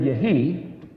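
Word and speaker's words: יהי: Well, the word for be or exist is spelled yod heh yod. It's the word yehi.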